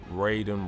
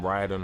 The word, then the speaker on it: Raiden: unlock there's 10 classic skins, right, for Katana, Raiden, Ryden, however you want to say his name.